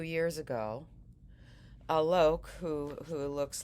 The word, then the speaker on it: Alok: I've understood that it's a better pronunciation to say Alok instead of Aluk.